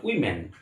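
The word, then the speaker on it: women: এটা কিন্তু উচ্চারণ ওম্যান নয়। উইম্যান।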